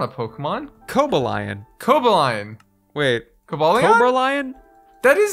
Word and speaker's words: Cobalion: I thought it was Cobalion. Wait, Cobalion? That's not a Pokemon. Cobalion. Wait. Cobalion? Cobralion?